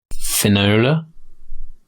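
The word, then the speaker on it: Fionnula: newspaper yeah seriously f-i-o-n-n-u-l-a how would you pronounce that give me that Finola well because your pronunciation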